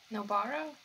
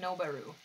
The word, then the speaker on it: Nobara: Is Sayori gonna figure out or find out about Nobara? That's how you say it. Why have I been saying Nobaru?